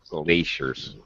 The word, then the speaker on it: glaciers: glaciers pronunciation by shaw glaciers it's a long a gray as in late okay right that's it